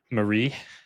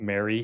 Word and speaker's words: Marie: I'm here with Marie. Is that the correct pronunciation? It's not Mary.